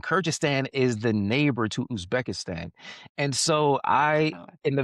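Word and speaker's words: Uzbekistan: I was going to say, can you pronounce that again where you were stationed? Oh, Usbekistsan.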